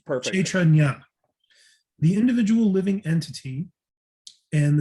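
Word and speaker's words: kṣetrajña: are two kinds of Kestranya. It's actually pronounced Kshetra. Kshetra. The- And the- Kshetra, yeah, and the JNA Kshetra, is Nya is pronounced that. You did. Nya. Yeah, it's perfect. Kshetranya, the individual living entity and the supreme living entity.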